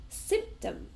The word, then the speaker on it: symptom: So our next word is symptom. Symptom. So, two syllables and we stress the first one and it's also a noun symptom.